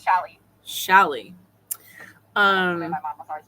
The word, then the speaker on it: challis: Yeah, it's challis. Challis. My mom was always pronounced challis.